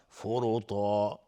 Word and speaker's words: فرطا: فرطا را مفخم هست چون ضمه داره. فرطا و تا هم از حروف استعلاء است غلیظ تلفظ میشه. الف هم تابع تا غلیظ تلفظ میشه.